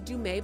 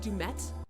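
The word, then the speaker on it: Du'Met: I thought was weird oh his name is Dume but you say that dumette dumette excuse me excuse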